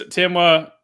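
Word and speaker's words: Temwa: Did I pronounce that right again? Okay, you got it. Yeah, it's Timwa, Barbara Banda, Sophia Smith, and obviously I'm saving the best for last, Trinity Rodman.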